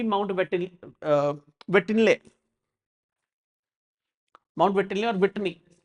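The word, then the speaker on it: Whitney: वेटिनले, mount वेटिनले और विटनी, विटनी pronunciation में guys it's विटनी, mount विटनी दिख रहा है यहाँ पर।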